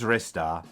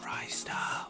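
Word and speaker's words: Ristar: wants to say my favorite game is wrista it's not pronounced dry style and basically i love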